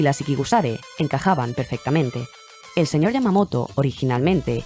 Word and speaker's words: Ikigusare: El sonido de esta expresión es Ikigusare, aunque se escribe diferente al nombre oficial del grupo.